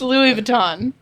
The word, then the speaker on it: Louis Vuitton: It's Louis Vuitton. The S is kind of silent. Yeah, Well, it is silent.